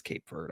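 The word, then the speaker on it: Cape Verde: It is Cape Ver. I pressed the pronunciation thing.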